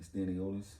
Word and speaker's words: Stanionis: Stanionis.